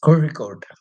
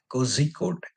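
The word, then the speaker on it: Kozhikode: second letter yeah that one you have to pronounce it that way same way calikat is kicode it's not ky code even though the z h is written that's a typical word for maladam.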